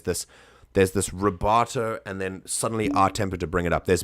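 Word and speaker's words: a tempo: And it's just a space tempo, but it's pronounced R tempo, and it's basically like at the same, like at normal tempo.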